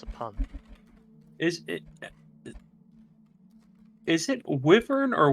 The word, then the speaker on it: wyvern: Is it wyvern or wyvern?